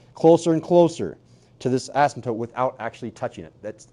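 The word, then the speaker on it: asymptote: as ASM toot again p is silent ASM no ASM toote no it's Asim well you pronounce the M like an m not an N so it's ASM toote and the horizontal ASM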